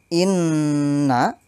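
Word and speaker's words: إِنَّا: National niaka huwal abtar lafal Inna membacanya ditekan karena bertasydid dan berdengung selama dua ketukan Inna lafal syaa panjangnya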